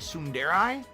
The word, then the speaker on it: tsundere: influence huh all right soon dare i tsunderai that's how you say it soon dary weird sundara tsundere soon dairy soon dairy or tasty